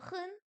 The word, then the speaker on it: 很: Wo hen. Oh, pardon. Si je vous défais le truc, ça va pas le faire. Wo hen. Non, c'est quoi hen? Troisième ton.